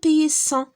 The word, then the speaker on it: paysan: un paysan ما نقولوش un paysan. un paysan.